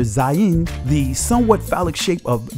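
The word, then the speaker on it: זין: is called the zayan which is pronounced zain in the israeli language this letter means weapon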